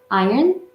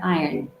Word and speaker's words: iron: with the r and the other one is the British where in the r is kind of Silent okay um it doesn't